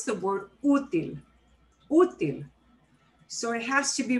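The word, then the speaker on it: útil: be okay with no accent mark but we pronounce the word util so it has to be written in okay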